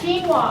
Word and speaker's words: quinoa: okay the next one who knows how to pronounce that word there in lunch yes quinoa quinoa okay who's seen that commercial it's a